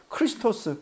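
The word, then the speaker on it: Χριστός: 가진 단어가 메시아입니다 히브리어로 히브리바른 발음으로 근데 헬라어 발음으로는요 크리스토스 그리스도라는 것입니다 같은 말이죠 그러면 예수를 만났는데 예수가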